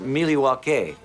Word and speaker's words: Milwaukee: There was one night she never told Rusev about in Milwaukee. Actually, it's pronounced Milwaukee, which is Algonquin for the good land.